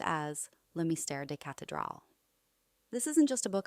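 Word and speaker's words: Le Mystère des Cathédrales: 1926 edition of The Mystery of the Cathedrals, pronounced as Le Mystère des Cathedrals.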